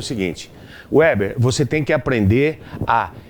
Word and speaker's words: Weber: Segundo ele, é alemão e aí você tem que pronunciar Weber. Né? Mas é Weber.